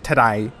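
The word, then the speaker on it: Tadej: his first name it's like the word today in cockney today I look today yeah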